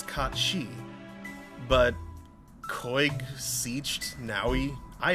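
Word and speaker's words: Cait Sith: Like, I know that, while it looks like it says Kate Sith, I know that's Kat Shi.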